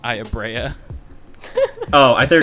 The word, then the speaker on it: Aya Brea: game, which would be Aya Bray from Parasite Eve. Where fantastic character in the first game. I'm gonna have to stop you right there because we all know the true pronunciation is Aya Brea.